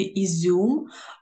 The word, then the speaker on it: ізюм: Ізюм, слово ізюм ми вимовляємо зі – м'яко.